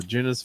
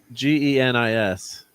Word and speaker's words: Genis: So Peter David returns to Genus. How do you say his name? Genus Vel? Genus Vel, son of the original Captain Marvel. Genus? How did you say? Genis.